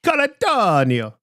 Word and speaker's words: Colantonio: I think you have to say Caladanio. Sorry. No, shut he's up. French. It's not Italian.